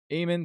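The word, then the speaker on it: Aemon: like that yeah yeah yeah Eamon is Eamon is spelled a e m-o-n-m-o-n Emon Targaryen he was the librarian at the wall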